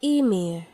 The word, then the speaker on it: Ymir: I read it as "yuhmeer"? So this Ymir is supposed to be pronounced as "Eemeer" Eemeer But since it's